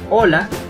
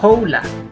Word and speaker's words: Hola: significa Hello en español recuerda pronunciar Hola y no jla puedes usar el saludo